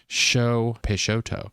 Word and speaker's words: Peixoto: I could have just read the top of the logo where it tells you how to pronounce it. It says Peixoto.